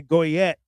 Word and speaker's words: Goyette: Yeah, it's Goyette. So, you pronounce the T and some people think, you know, you don't, but you do. Okay. Goyette.